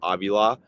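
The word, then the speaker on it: Avila: Steve uh it's looks like Aila but it's pronounced Aila and when he got hurt in that Detroit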